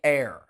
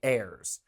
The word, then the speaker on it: heir: Yeah, listen, like you are my heir. Like if I die, you get my stuff. You know what I mean? You and your sisters are my heirs. The H is silent.